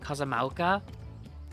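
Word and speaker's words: Kozama'uka: Kazamala.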